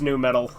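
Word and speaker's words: nu metal: course it's new metal.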